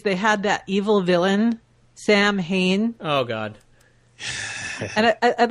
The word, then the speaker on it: Samhain: I know what it's pronounced. Samhain.